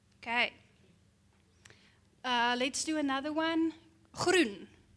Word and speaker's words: groen: Groen. Groen. Groen. Try. Groen. Yeah. Groen. This one. Yeah. Okay. So you try to pronounce the word, and then the teacher helps you to say it's groen.